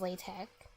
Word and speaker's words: LaTeX: called latex oh like the way the people who made the language intended it to be pronounced was latch I didn't know that